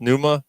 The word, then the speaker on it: Pneuma: i had the exact is that how it's pronounced pneuma i was like yeah like pneumonia like yeah did you